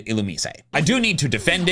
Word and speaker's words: Illumise: Are y'all just mad that the official pronunciation is Illumise and not Illumi?